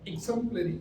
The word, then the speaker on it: exemplary: It is exemplary. The first stresses of the first syllable.